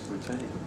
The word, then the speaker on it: lutetium: The next coin that Peter brought along is lutetium. Lutetium. Lutetium. Lutetium.